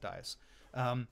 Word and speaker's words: Dyess: Dyess that's it yes Dyess thank you yes at least that's how I was told to pronounce it dice yes yes that's it